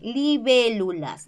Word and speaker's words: libélulas: de colocar la tilde es una palabra esdrújula no mayor fuerza de voz en la antepenúltima sílaba y recuerda la clase todas las brújulas llevan tilde muy bien libélulas libélulas que más observamos